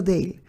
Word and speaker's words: Dale: nota quiero Añadir aquí yo digo Dale pronuncio dail pero está escrito por